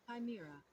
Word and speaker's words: chimera: Is it Chimera or Chimra? Kim. Chimera. Let's look it up again. I will look it up as many times as it takes to learn how to say this word. Chimera. Chimera. I was wrong on both guesses.